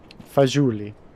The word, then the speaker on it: fagioli: It's a soft G. A soft... I was going to say, is it a soft G? Oh, my brain sometimes, I swear. Fagioli.